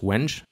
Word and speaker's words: wengé: By the way, I know it's pronounced wenge, even in French, but wenge sounds much more funky.